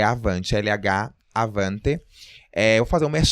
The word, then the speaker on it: Lhavante: A pronúncia ficou hispânica, né? Lhavante. Mas é Avante, L-H, Avante.